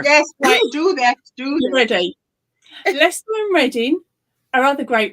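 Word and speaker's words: Leicester: take over sure yes do that do ready Lester and Rin are other great ones I've heard it pronounced Lester sh yes and a reading is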